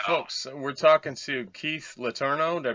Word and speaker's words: Letourneau: folks, we're talking to Keith Letourneau. Did I pronounce that right?